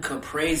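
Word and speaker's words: caprese: Capra sandwich it is a beautiful fresh watermelon Capra sandwich that's how you say it mozzarella sandwich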